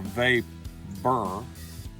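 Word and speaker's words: VaBur: this is uh a a vape burr and i pronounce that so there's no confusion you bur virginia burley predominantly and with that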